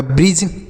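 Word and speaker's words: bridge: तो यह हो गया ब्रिज। क्या हो गया सर? इसे हम पढ़ेंगे बी आर से हो गया ब्र, आई से बड़ी ई, डी साइलेंट होता है, जी ई से ज, लिखा है ब्रिज।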